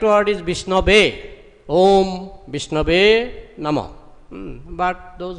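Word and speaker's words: विष्णवे: Murkha badati vishnayo dhira badati vishnabe ubhayastu shamang punyam bhavagrahi janardana.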